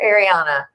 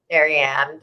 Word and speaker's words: Ariane: Ariane or Ariana? Ariane.